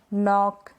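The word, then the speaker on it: knock: क्या है रूल, के और एन साथ में होते हैं तो हम के को नहीं प्रोनाउंस करते। स्पेलिंग्स जान ले, एग्जांपल्स जान ले, जैसे कि नो, नॉक, knife, night, knowledge.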